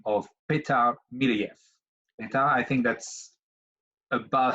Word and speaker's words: Petar Milojev: I found another expert by the name of Peter mill EF and I think that's about how we say